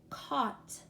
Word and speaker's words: caught: night's fights frytss sigh caught sight light notice all of those have the long I sound except for taught and caught both of those have au which says ah alright very good let's